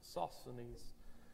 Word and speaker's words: Sosthenes: it's uh suspended sosthenes that's the way the esv bible app pronounces it sosanese and isoscenes that they